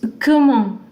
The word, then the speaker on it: comment: Last consonants are not pronounced in most cases in French, so this T is not pronounced. It's not comment, it's not comment, it's comment.